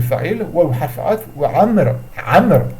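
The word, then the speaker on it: عمرو: Amr. Et non pas amrou, amr. Parce que si je m'arrête, je dis pas amroun, hein, amr.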